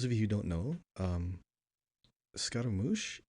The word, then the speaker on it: Scaramouche: So those of you who don't know, Scaramouche in Japanese pronunciation is Sukaramushu.